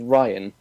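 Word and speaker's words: Wrayan: the moment who i'm choosing to pronounce his name as ryan but it is spelt w-r-a-y-a-n i mean i won't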